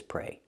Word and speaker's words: pray: let's talk about this pray the same pronunciation pray use a long a like day and say pray and the preposition is